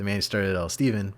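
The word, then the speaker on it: Stephen: And joining me, of course, the man who started it all, Steven, but it's spelled PH and E, but we call him Steve.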